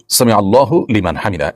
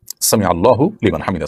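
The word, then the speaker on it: سمع الله لمن حمده: অগত প্রশ্নটি আপনি করে ফেলেছেন দেখুন সামি আল্লাহু সামি আল্লাহু লিমান হামিদা এটি হলো শব্দের সঠিক উচ্চারণ সামিউল্লাহু লিমান হামিদা সামিল্লাহু লিমান হামিদা এটা সঠিক উচ্চারণ নয় থামতে হবে সেখানেই যেখানে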